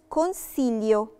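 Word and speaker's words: consiglio: مثال مثال كلمه كونسيليو لو ركزنا كونسيليو ما نطقتش خالص طلعتيه ولا دي دولتي ولا دي دورا نطقت القله على طول عندي مثال تاني تكون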